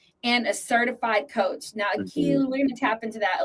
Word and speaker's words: Akeel: If you're saying it correctly, it's Akeel. Akeel.